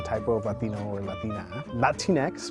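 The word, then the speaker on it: Latinx: Latine X, pronounced Latine X, is a gender-neutral word to describe people of Latin American descent.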